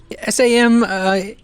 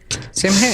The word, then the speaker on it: Samhain: SAMHAIN. Mm-hmm. Sam Heyman. Samhain, yes.